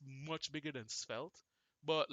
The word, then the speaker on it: Svelte: That's how you say it, Svelte.